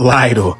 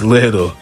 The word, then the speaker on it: Liddell: I know it looks like it's spelled Lidel, but it's Little.